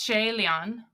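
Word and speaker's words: 谢怜: What do you have in your pronunciation book? Yeah, it's Shay Lian.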